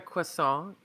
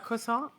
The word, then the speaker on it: croissant: Yeah, so what I like to do is I like to get a croissant. Do we pronounce the T? A croissant?